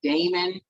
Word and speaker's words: daemon: is a modern word, daemon, right? The way it's spelled in, you know, in ancient times, it sounds like, it reads like Damon because it's Daemon or Daimon, okay?